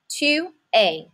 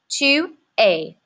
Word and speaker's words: tu es: Tu es. This es is not pronounced s. That would be my first instinct too. Tu es.